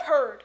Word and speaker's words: heard: familiar traps beware of heard a dreadful word that looks like beard and sounds like bird and dead it's said